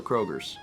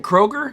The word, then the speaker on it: Kroger: doesn't matter it's still krogers wait isn't it actually is it kroger it's kroger see that's dog on it